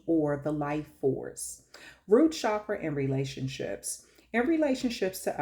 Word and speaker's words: chakra: So for the first chakra, it's really, I say chakra, but it's actually pronounced chakra. Chakra. It's like CH, like if you would say chalk, like chakra.